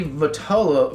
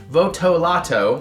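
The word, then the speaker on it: Votolato: the unexpected tones of rocky vitola vital but voto lotto sorry i was saying it wrong before and chuck reagan split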